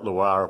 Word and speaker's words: Loire: That's our Gabriel Loire window. The name, by the way, is pronounced the same way as the Loire Valley in France, where some fairly decent wine comes from.